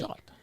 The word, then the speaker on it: Rajat: Raj, as in like Taj Mahal, and Ott like Ott. There we go. Yeah. C'est français. Rajat.